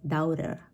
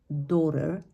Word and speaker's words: daughter: all of them so how it's often pronounce is doubter or doubter something like this right however in this particular word we is just a very short sound okay and which is going to be daughter daughter once again there's going